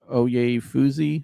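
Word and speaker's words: Oyefusi: The Browns state attorney office told ESPN's Daniel uh Oay Fuzzy, I believe is how you say his name.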